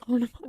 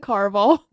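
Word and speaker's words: Caraval: Carnival. It's Carval.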